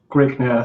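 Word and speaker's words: Grignr: How do you pronounce that? Grigner is okay.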